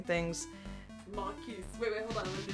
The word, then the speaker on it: Marquise: I can say Kismesis, but Marquise? Oh. Dang it. I always pronounce that off. I'm sure it's pronounced Marquis, but I always... it is Marquis, you don't...